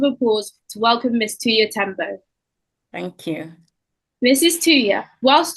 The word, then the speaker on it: Tuiya Tembo: I'd like to make sure I'm pronouncing that right. Yes, you got it spot on. Well done. Okay. Ms. Tuiya Tembo is a solicitor and associate professor of law at the University of Bradford.